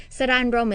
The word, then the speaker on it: Saranrom: Sara'n Rom is spelled SARANROM, Sara'n Rom Radio.